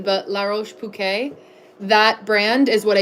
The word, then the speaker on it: La Roche-Posay: I was corrected on my pronunciation, but La Roche-Posay, that brand is what I use, Bella, on my skin.